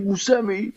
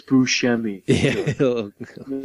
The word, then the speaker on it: Buscemi: yes oh my God your Steve Buscemi and he'll be like no it's buschemy slap's gonna slap you